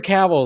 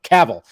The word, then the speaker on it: Cavill: now a name because nobody nobody even pronounced his name correctly when he got connect you know caval Caville we all called him Henry Caville who's this guy oh